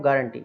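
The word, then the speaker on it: guarantee: Next है हमारा, इसी में हम इसको बोलेंगे हम गारंटी, गुआरंटी, इस तरीके से नहीं बोलेंगे।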